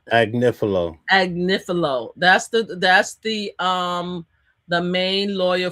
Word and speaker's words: Agnifilo: Anifilo. How do you pronounce his last name? Agnifilo.